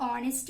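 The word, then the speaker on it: honest: Wait में G silent, half में L, नी में K, जज में D एंड ऑनेस्ट में H इज साइलेंट.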